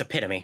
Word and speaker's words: epitome: then I and then I looked up the pronunciation of it and it was like oh that's epitome.